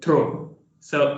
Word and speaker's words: throws: Okay, so you are having trouble with the word throw. So it's throws. Throws. Put a little stress on th.